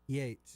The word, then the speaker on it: Yeats: Is it pronounced Yeats or Yates? Yates. Yates.